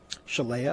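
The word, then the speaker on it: Shalea: name is chalet no that's her first name spell it s-h-e-l-e-a that'd be mistaken with shalamar no okay s-h-a-l-e-a yeah chelya okay all right oh okay well that checks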